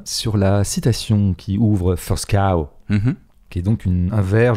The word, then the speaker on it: First Cow: On dit pas First Co, on dit First Cow. First Cow, d'accord. Donc dans First Cow, je voudrais un peu revenir sur la citation qui ouvre First Cow, qui est donc un